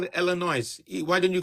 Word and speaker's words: Illinois: do you call it Illinois why don't you call it Illinois the S is silent oh okay thank you